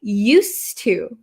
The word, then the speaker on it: used to: my phone however here the pronunciation changes a little bit okay used to us to so this D kind of disappears because it's followed by a t used to and it's